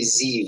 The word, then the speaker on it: Ziv: It's actually Ziv. It's Ziv. like Steve with a Z.